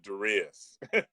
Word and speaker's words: Darius: You know, there's 8 billion people on the planet, and I'm the only person out of 8 billion that pronounces it Darius.